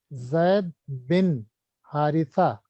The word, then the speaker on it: Zaid bin Haritha: Zad is correct answer, but the rest is mispronounced. Zaid bin Haritha. Wo English mein Corrected. TH. Okay. In English it is TH, so that's why she is pronouncing differently.